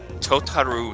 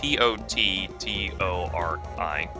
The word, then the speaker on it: Tottori: It's the Totaru sand dune. I don't even know if I'm pronouncing it. It's Tottori. Totori sand dunes.